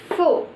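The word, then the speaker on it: ふ: Again after ha it should come fu, but it is not hu, it is fu. It will be pronounced as fu.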